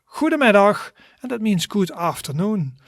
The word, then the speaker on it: goedemiddag: And a good afternoon is pronounced in Dutch as goedemiddag, goedemiddag, goedemiddag, and that means good afternoon.